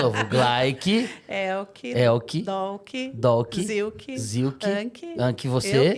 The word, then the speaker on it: Anke: Ela fala de um jeito muito mais alemão. Como que é a pronúncia? Não, Anki. Ela não tem o G. Dá uma segurada. O G né? some, né? Mas em alemão é Anke, mas é muito feio, né?